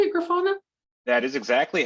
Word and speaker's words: Grafana: at grafana is that how you say it grafana that is exactly how you say it cool